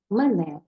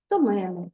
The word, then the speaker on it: мене: собою місцевий на собі зауважте що у займенникових формах мене тебе його себе наголошуємо другий склад Але якщо ці форми вжитосприйменниками то наголос переходить на перший склад до мене до тебе до себе наприклад немає мене